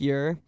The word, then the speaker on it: Ure: voice sorry but um my real last name is ure pronounced yur and no one gets that right they think it's like super german just mispronounce it and